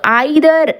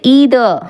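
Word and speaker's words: either: ஸோ இந்த ஐதர் இதை நம்ம ஐதர்னு ப்ரொனவுன்ஸ் பண்ணலாம். அமெரிக்கன் இங்கிலீஷில் ஈதர் அப்படின்னு சொல்கிறாங்க. ஸோ பிரிட்டிஷ் இங்கிலீஷ் படி ஐதர், அமெரிக்கன் இங்கிலீஷ் படி ஈதர். ஸோ நம்ம ரெண்டுத்தில் எப்படி வேணாலும் ப்ரொனவுன்ஸ் பண்ணலாம்.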